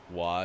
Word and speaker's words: Roy: at us and goes no it's patrick roy so we like walked away like we won which there's no way you would know yeah for sure i mean look at it it's spelled roy uh no confirmation whether